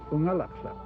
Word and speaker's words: Unalakleet: A lot of people think that Unalakleet means where the east wind blows, but the word Unalakleet is actually an Inupiaq word pronounced Unalakleet. And Unalakleet means from the southern end.